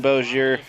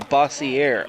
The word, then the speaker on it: Bossier: Brandon Bozier. Third, up now for Washington, Brandon Bossier. Oh, Bossier apparently is how it's pronounced.